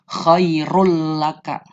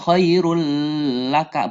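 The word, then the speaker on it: خيرا لك: bacanya tidak disertai dengung jadi langsung Choirul laka Choirul ak ad bukan Choirul lah Kak bukan seperti itu jadi langsung Choirul laka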